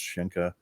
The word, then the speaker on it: Sencha: shinka because uh my my name is spelled s-e-n-c-h-a but it's uh the gaelic is pronounced shinka and a lot of